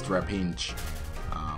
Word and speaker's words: Trapinch: God damn it, that name is so hard to pronounce sometimes because there's always, I think there is an N in between A and P, but there is not. So it's Trapinch.